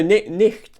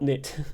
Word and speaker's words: nicht: No, nicht, not nit.